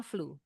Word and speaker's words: flew: Argia The flew. Bacanya flu.